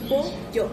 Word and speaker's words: pollo: In Argentina, they pronounce the double L different. Say pollo. Pollo. Pollo. Pollo. It's sha, she, shi, sho, shu. Sha, she, shi, sho, shu.